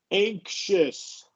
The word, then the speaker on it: anxious: Um but right here anxious an inkious. Yeah. No, no, no. So the when this this is one of those weird exceptions with X where the um the X makes a sh.